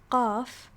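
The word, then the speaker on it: ق: So for qaf, I noticed that I have to kind of tighten my throat a little bit, right? It feels tighter right before I, pronounce it, right? It's qa, right? Yeah. It's really similar to the kaf sound.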